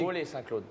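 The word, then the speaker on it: Vaux-lès-Saint-Claude: Voler Saint-Claude. Voler Saint-Claude. Ça s'écrit?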